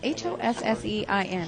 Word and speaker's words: Hossein: top pair hosin Hassan well it's h o s s e i n Hossein Hussein okay so he uh actually